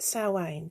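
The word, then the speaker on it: Samhain: that's that's where that came from and at sam sawain i nearly said somehow they want a donut um at sowein this is when the veil is thin the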